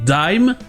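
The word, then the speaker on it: dime: mot prix au français qui se prononce en anglais d'eim avec un s muet et justement comme il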